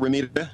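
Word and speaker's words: Romita: in the uh Johnny Ramita comic books, if that's the correct pronunciation of his name. Ramita. Um is it Ramita?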